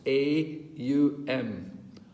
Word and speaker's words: om: so pranayama it says chanting the three syllables combined as om three syllables a u m um which i thought